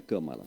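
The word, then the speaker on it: Kamala: né o camala como Cada um pronúncia de um jeito não sei nem Qual a pronúncia correta mas a correta mesmo é camala cala é então a camala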